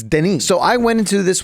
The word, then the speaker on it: Denis: I pronounce that right it's not Dennis it's Denise so I went into